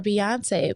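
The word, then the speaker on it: Beyoncé: That's short for Beyonce. But I know they not g they going not gonna mispronounce the first part of the pronunciation of her name is not bae. It's it's B.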